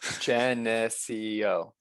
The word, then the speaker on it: Geneseo: Geneseo. Yeah, that's it. Okay. I think we're saying the eh too much. Like that's the too much emphasis there. Geneseo. Right. Geneseo?